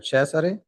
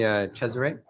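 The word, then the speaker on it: Cesare: So, instead, um, I'm chess. That's how you pronounce my name in Italian. And that's how you write it in English and in Italian. Um, however, I'm fine with this pronunciation. Chz and then. So, you know, feel free to call me Chzer.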